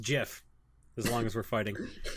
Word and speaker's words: GIF: like that yeah yeah tip on Groupon it's pronounced jiff as long as we're fighting pineapple on pizza